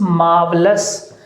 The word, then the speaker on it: marvellous: इसके बाद है ITS, इट्स MARVELLOUS, इट्स मार्वलस। इसमें जो R है वो साइलेंट रहेगा, उसकी आवाज़ नहीं आएगी, लिखा जाएगा इट्स मार्वलस, इट्स मार्वलस, ये बोलेगा।